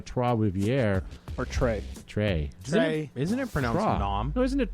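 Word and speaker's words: Trois-Rivières: that is at uh three rivers or as we would say in canada troivierre or trey trey isn't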